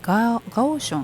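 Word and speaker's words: 高雄: ども、高尾と書いてガオションっていう町にある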